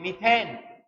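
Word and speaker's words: methane: n दिया इसका automatic अपन English medium में बोलते हैं मिथेन हिंदी मीडियम वाला इसको बोलेगा मेथेन प्रोनाउंसिएशन का फर्क है इसे बाकी बात एक ही है कि मिथेन बोलेंगे इंग्लिश मीडियम का मीथेन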